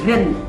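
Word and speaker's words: 人: Tulisannya begini, ren. Nah, bacanya ren. Ren. Ren, Ren, itu ren, orang.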